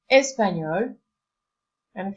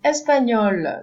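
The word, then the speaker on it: española: country Spain list Anya Spanish is pronounced espanol and feminine form is Espanola so we do add an extra e but there is no big change in pronunciation there is maybe just sound look is more pronounced and you have espanol masculine Espanola what you have an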